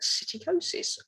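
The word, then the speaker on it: psittacosis: have a look at cyticosis which as you can see is spelt with a p and not an s so cyticosis also known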